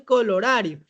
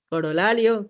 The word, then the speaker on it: corolario: ahorita me acaban de corregir y no es colorario, es colorario. Ah, no, sí está bien. Colorario, sí escribí bien. A ver, está bien, ¿no? Sí es colorario. Corolario, colorario.